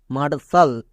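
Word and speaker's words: martial: এ আর মার টি আই এ এল সাল মার্সাল শব্দের শেষে যদি টি আই এল পাও তখন এর জন্য সাল উচ্চারণ হয়ে যাবে যেমন মার্শাল একই রকম ভাবে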